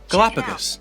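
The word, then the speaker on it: Galápagos: for how do you say the galapagos islands galapagos galapagos islands that is where charles darwin spent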